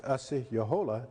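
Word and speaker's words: Asi-yahola: or osceola sometimes it's pronounced but the real pronunciation is asi yohola in the language but here is a representation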